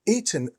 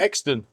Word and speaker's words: Oxton: Skippers where I Is it How do you pronounce the name? Is it Eaton? Exton? No. Exton? Exton.